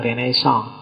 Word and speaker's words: Renaissance: Renaisan itu istilah dalam bahasa Perancis bacanya agak sengau belakang ya. Kalau orang Indonesia sih enggak suka istilah sengau. Itu biasanya renaisan yo renaisan. Kalau orang Prancis sendiri belakangnya mesti agak hilang renaisong.